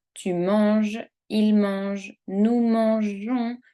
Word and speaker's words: mangeons: Je mange, tu manges, il mange, nous mangeons. Tengo que añadir la E porque si no pronunciaría mangon. Añado la E y puedo pronunciar mangeons.